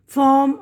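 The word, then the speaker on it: form: ना फॉर्म भर दो तो आर साइलेंट होता है यहां पे जैसे यह आरम ए आर एम आर एम नहीं पढ़ेंगे आम ये आरट नहीं पढ़ेंगे आट ठीक है ना फॉम आम आट वगैरह हा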